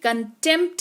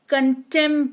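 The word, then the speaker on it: contempt: P silent रहेगा गा पी और टी अगर साथ में आ रहे हैं किसी शब्द में तो पी साइलेंट होगा। जैसे कि कंटेंप्ट नहीं पढ़ते हैं। कंटेंट पढ़ते हैं।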